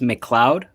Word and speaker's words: McLeod: Also, it's pronounced McLeod.